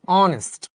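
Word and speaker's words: honest: আমরা বলছি এটা কিন্তু অনেস্ট না এটা হচ্ছে অনেস্ট যাবে অনেস্ট ম্যান এরকম আরো একটা শব্দ বলতো এইতে যেটার উচ্চারণ হটার উচ্চারণ অয় অথবা আ হয় যেমন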